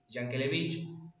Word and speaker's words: Yankelevich: Empresarios como Jaime Yankelevich, creo que así se pronuncia, Yankelevich, impulsaron las cadenas de radiodifusión nacionales, permitiendo que la música llegue, bueno, a todo el territorio argentino.